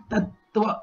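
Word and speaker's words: तत्त्व: That is how you will have to pronounce it. Tattva. There's a stress that is given in this place. Tattva. So that is the pronunciation. Tattva, not tattva.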